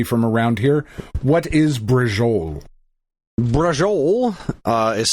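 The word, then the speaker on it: braciole: But it's pronounced brajol.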